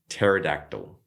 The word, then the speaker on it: pterodactyl: We have pterodactyl.